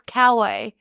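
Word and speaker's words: Kauai: be like where's that cuz I thought of it ka yeah but it's cway they call it we just all say it wrong I just always was like what are you what are you talking about it's Kawai they're talking about they say Kawai anyway so they arrive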